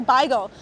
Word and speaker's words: beigel: I wasn't trying to say bagel, I was trying to say beigel. Beigel is the traditional Yiddish pronunciation for bagel, or bagel, I've heard some people say.